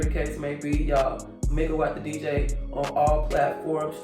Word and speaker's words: MEGAWAAT: It's megawatt, like energy, megawatt, kilowatt, decawatt, a watt.